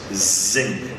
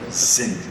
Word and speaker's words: zinc: He said this one is the sink with an S, one is a vibrating S, zinc, sink. And then there's a Z.